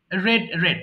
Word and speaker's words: read: But for past indefinite tense, when you answer in past form, the spelling will be the same, but the pronunciation will be read. For past tense, Read. red. Yes, red color. Oh, read, Yes, read. Oh exactly. my God. Red. But the present form must be read, not red.